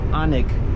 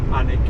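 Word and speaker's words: Alnwick: We're coming to a town which is spelled as a L n W I C K but it's pronounced Anik. Anik.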